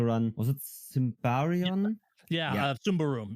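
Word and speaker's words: Symbaroum: Sumbarum, yes. You would never know how to pronounce that game unless you're Swedish reading that.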